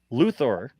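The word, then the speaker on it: Luthor: CEO of Lex Corp Industries here's the problem luor oh so they is spelled l u h o r yeah they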